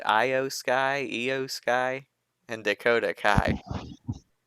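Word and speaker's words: IYO SKY: Io Sky, and Dakota Kai. I think it's EO. Io Sky. I believe so.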